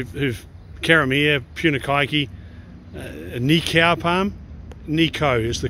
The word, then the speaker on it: Nikau: have you know who've caramiere puna kaiki nikaopam nico is the correct pronunciation and i've i've convinced maureen pugh maureen